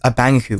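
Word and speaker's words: abang aku: In the Malaysian mythology, there is a creature by the name of Abaoku, is generally accepted to be pronounced as Abangaku, which means my elder brother.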